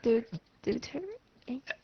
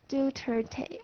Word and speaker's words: Duterte: Duterte. Rodrigo Duterte. Duterte. Oh, So okay. Duterte. It's a Duterte. three-syllable word.